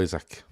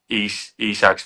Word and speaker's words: Isak: probably see it's Alexander Isak. Yeah, well, whatever. Let's say Isak, because it's IKEA, isn't it? So I'll say Isak, so IKEA. With a K.